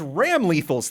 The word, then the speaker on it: Ramlethal: That's Ram Lethal's theme in Guilty Gear Exarch, Of course.